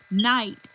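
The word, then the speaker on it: knight: Night pronounced night.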